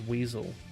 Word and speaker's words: WSL: By the way, I heard today that apparently Windows Subsystem for Linux, WSL, can be pronounced as Weasel.